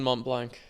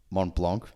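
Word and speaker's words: Mont Blanc: what's your thoughts on Mont blank mon Blanc monan get get the pronunciation right first mate far out should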